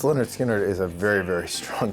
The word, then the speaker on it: Lynyrd Skynyrd: Released on August the 13th, 1973, Pronounced Leh-nerd Skin-nerd was an album that may never have